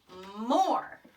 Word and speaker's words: more: I hear that or sound. More is spelled M-O-R-E. Well, just by looking at this, I see that chunky monkey. I can see that or sound. Or. Our friend E there is silent.